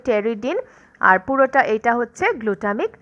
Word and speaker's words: pteridin: আর এর মধ্যে টেরিডিন বানানটা তোমরা এখানে দেখতে পাচ্ছ। দেখো PTERIDIN, টেরিডিন। পিটা কিন্তু সাইলেন্ট থাকে।